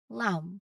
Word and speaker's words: lamb: out for it late after an M at the end of the word or before a T. So these are consistent patterns in English that will help you pronounce these words accurately. Let's try saying these words aloud together, really focusing on keeping that B quiet where it should be.